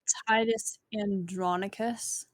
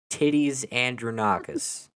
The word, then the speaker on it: Titus Andronicus: to shakespeare's hamlet and titus andre knockout citizens titus andronicus titties andranakas okay just let me roll with it it's